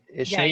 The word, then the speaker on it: Ishneet: Ishnet, if you just go ahead, or I'm sorry if I'm pronouncing your name. Ishnet, Yeah, that's correct.